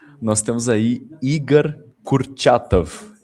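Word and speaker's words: Igor Kurchatov: Vou deixar Mateus pronunciar o nome que vai pronunciar mais melhor do que eu. Nós temos aí Igar Kurtatov. Igar Kurtatov.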